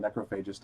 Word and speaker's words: Necrophagist: And I say that band name that way because that's how the leader, Muhammad, said it, the band Necrophagist. So that's not how I would have originally pronounced it, but that doesn't matter